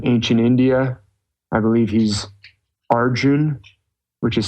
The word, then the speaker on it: Arjuna: India I believe he's Arjun which is spelled Arjuna a RJ u n a usually I hear it pronounced the a is silent sorry my dog your